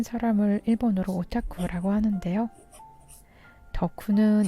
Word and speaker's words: 덕후: 일본으로 짧고 라고 하는데요 덕후는 이 오작교를 한국 발음으로 1호 더 구의 줄임말입니다 이 덕후가 하는 행동